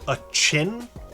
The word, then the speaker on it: Addison: yeah I love the apparently he wants pronounced a chin I believe uh they he